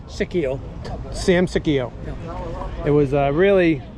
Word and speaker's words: Sicchio: Sicchio.